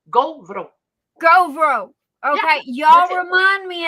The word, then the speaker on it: Gauvreau: Gauvreau. Gauvreau. Okay, y'all remind me of that and spell it the way it's Gauvreau. Yeah. Bless you. Because AU in French is O and EAU is O.